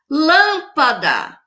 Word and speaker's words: lâmpada: Lâmpada. Aqui, ó. Última, penúltima. A lâmpada teve a antepenúltima sílaba forte.